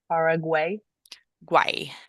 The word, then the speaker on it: Paraguay: So this one is paraguay. Why? So think of it like why, like the letter or the question why. Paraguay. Paraguay.